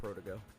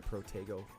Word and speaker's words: Protego: give somebody double protego protogo i think that's how cheese man says that protogo i like the protego pronunciation but it doesn't say